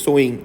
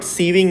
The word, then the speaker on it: sewing: machine so see friends this is spelled as s-e-w-i-n-g but its pronunciation is showing okay you should know this it is not sieving machine it is sewing machine then playing cards chess